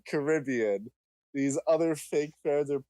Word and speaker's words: Caribbean: here first if you that it's Caribbean and not Caribbean these other fake feds